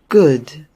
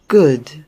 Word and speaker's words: good: Good. Tá vendo? Não é U e nem é O. É um som entre essas duas vogais. Good.